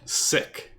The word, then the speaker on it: sic: It's pronounced Sick? Yeah, like it is Latin.